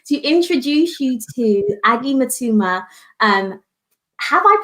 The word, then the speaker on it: Mutuma: i am honored to introduce you to aggie matuma um have i pronounced your what your surname right aggie first